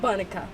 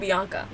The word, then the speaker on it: Banika: So um apparently her name is Bonika but Banika Banika Banika apparently and I was saying Bianca now um sometimes like I already told you you guys I sometimes I cannot read like sometimes I cannot pronounce things. It just it the my my brain it doesn't work like that. So um hotel I was saying Bianca um her name is is Banika.